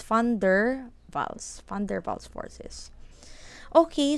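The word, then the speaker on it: van der Waals: don't pronounce this as van der whoa this is fun durval snow so this one you pronounce it as f so funder funder Val snow it's not wonderful its funder Val's funder balls for this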